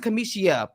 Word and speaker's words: Kamishia: doing this blogging thing nobody ever says that that's how you say my name but they say Kamisha because it's easier I just move on